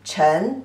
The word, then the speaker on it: 尘: And pronunciation as 吃, en, chen, the second tone.